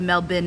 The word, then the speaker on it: Melbourne: wrong for 35 years Rivendell said Mel bin not burn okay is there different accents um in in Australia where some will say burn and some will say bin it's just Mel bin Mel bin so you say the end syllable the same way you say second syllable in brisban Melbourne Melbourne wow